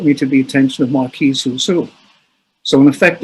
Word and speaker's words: Marquis: Marquis, is that how it's pronounced?